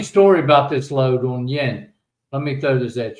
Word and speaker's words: Jan: No, that's Yen. Funny story about this load on Yen.